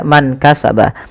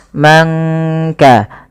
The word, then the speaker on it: من كسب: Kemudian man kasaba, tidak kita baca man kasaba, tapi disamarkan suara nunnya kepada huruf kaf. Mangka, angka, langsung kepada makhraj daripada huruf kaf itu sendiri.